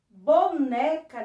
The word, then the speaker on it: boneca: Qual foi a sílaba que tia Érica demorou mais pronunciando? Isso mesmo, o né, né. Então, a sílaba mais forte, a sílaba tônica da palavra boneca é o né.